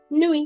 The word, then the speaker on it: nuit: But 95% of the times in French in a word, we do not pronounce the last letter of it. Okay? That is why we call it bonne nuit.